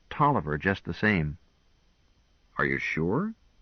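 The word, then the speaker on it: Taliaferro: see also Talia faroh that's the original spelling said Gwen but it's pronounced Tolliver just the same are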